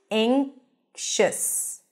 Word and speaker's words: anxious: a as in cath but before the NG sound which we have here in the word anxious it sounds more like an a sound anxious anxious he looked around